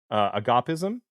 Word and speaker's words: Agapism: And then you have another book coming out, Agapism. How do you say that? I say agapism, but Okay. my ancient Greek pronunciation is sorely lacking.